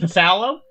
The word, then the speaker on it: phthalo: Uh, you mean pthalo? Starts with a psal. You mean pthalo?